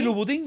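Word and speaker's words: Louis Vuitton: en 800 y los Cómo se dice bien se dice así luisín luisín Oye luisín Okay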